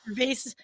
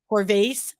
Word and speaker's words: Corvase: Canada so that's Michael Vase and by the way mispronounced his name on Mike um so we gotta apologize to Mike on that one it is corvase Michael corvase who is